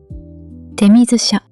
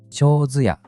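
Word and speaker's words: 手水舎: 手水舎。長寿屋と読む神社もあります。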